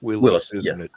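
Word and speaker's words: Willys: Willies Jeep Willis no it's spell Willis it's pronounced Willis yeah whippy's my hero anyway gladly pay you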